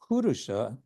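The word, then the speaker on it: puruṣa: beings then he says the word kurusha um and here he has a little accent mark on the first uh syllable purusa means man person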